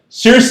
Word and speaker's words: Saoirse: How you say it? Circe Ronan.